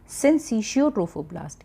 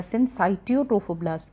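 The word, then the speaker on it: syncytiotrophoblast: वन is called साइटोट्रोफोब्लास्ट एंड the second is called सिंसिशियोट्रोफोब्लास्ट या सिंसाइटियोट्रोफोब्लास्ट भी आप इसे प्रोनाउंस कर सकते हैं।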